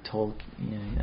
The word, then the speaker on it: Tolkien: I guess it should be Tolkien. I don't know if you pronounce the L too much.